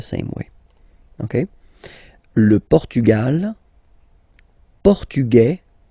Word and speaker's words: portugais: The only difference between the two, as usually when we'll have some, nationalities ending with AES, like that, and then the feminine form, es, okay, it will be only in this z sound, the difference between the masculine form and the feminine form, okay? Masculine, portugais, you don't pronounce the S.